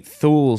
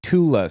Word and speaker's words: Thule: Or the Thule Society is actually the Thula Society, not the Thule Society.